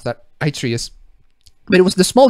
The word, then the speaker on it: Atreus: How do you pronounce that? Atreus.